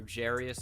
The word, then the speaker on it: Jarius: Torrey Smith, Jairus Wright, or Jarius, I think he pronounces it.